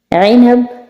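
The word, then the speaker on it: عنب: আইনাব মানে আঙ্গুর, হারফেল আইন উচ্চারণ হবে, ঠিক আছে?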